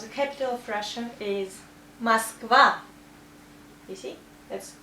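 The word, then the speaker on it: Москва: The name of the capital of Russia is Moskva. You see, that's O, but we also say A because of stress here. Moskva.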